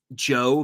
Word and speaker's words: Djo: I don't know if you're familiar, but he has music and it's like, it's Joe, but it's DJO, like the D is silent.